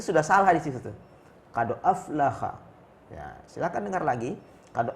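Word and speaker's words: قد أفلح: Yang benar adalah qad aflaha. Ha bil ha. Kha itu salah. Yang benar aflaha.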